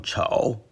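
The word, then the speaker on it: 丑: Third tone chou, clown.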